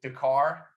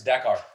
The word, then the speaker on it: Dakar: to do this and i always mispronounce it the car help me out here yeah yeah it's dakar that car okay so as you're